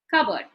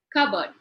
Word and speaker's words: cupboard: Cupboard, twice, 2 syllables. Now, since it is a noun, the stress comes before the k sound. So, cupboard. If you notice in the transcription, the p sound is missing.